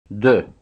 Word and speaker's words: deux: This difference is because the French 2 is spelled with an X at the end. When preceding a noun with a vowel sound at the beginning, the X is no longer silent, but is pronounced as the beginning of the second word.